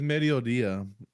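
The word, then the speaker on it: mediodía: It's Medodia.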